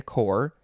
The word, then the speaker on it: corps: it is spelled c o c-o-r-p-s it's a core but the plural is spelled the same way c-o-r-p-s but it would